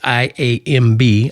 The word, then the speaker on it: iamb: So, for example, an iamb, and that's I-A-M-B, iamb, that's not easy to say, iamb foot, is a word that uses an unstressed syllable followed by a stressed syllable, as in delight.